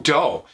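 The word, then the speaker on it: Deaux: Now, it's spelled in the French style, like D-E-A-U-X, but it's Doe.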